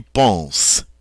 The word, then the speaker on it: penses: Again, it is silent, and we pronounce this tu penses, you think.